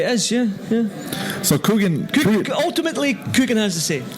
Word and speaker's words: Kugan: didn't it was Kanan I thought it was obviously kugan cuz if you if you see how it's spelled right is k u g a n right kugan right for us but there must obviously be a sort of twang in Sri Lankan is it more for